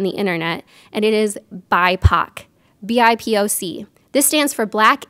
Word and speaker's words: BIPOC: who you're talking about so that's how you pronounce it it is bipac next one for definitions